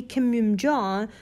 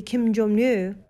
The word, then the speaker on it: Kim: will correct myself that it should be Kim not the Kimu I'm sorry for the